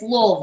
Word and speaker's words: Louisville: Yeah, but if you're from here, it's Louisville. It's Louisville. Yeah, it's Louisville, right?